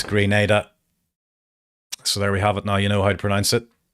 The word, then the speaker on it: Grenada: Somebody in the chat just telling me that it's pronounced Grenada, so my bad. Not Grenada, it's Grenada.